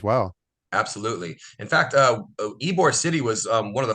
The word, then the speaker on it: Ybor: history wise Tampa and Ybor City uh it's pronounced Ebor for those that come visit I know I got a lot of people that say why boar but it's pronounced ibor is a is an amazing maybe the best